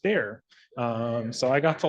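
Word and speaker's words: Bexar: though it's spelled B X a R it's pronounced bear um so I got to learn that because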